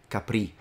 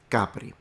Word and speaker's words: Capri: Capri um this is I've heard people here say it Capri so it must be once again a French influence in Italian the stress is on the first syllable the first vowel and we say CI Capri beautiful Island by the